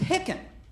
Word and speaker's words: Hicken: my last name though my last name is hicken which is spelled like chicken but without a c in the front little funny by itself